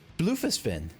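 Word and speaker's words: Bloefhiswyn: Bluefisfin. That's how you pronounce that.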